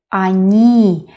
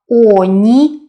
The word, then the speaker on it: они: Они. Again, the last syllable is stressed. That is why not oni, but они.